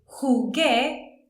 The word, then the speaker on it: jugué: Jugué goes with G-U-E. Jugué. Because if I don't use that U, it would be jugué. And that wouldn't be right.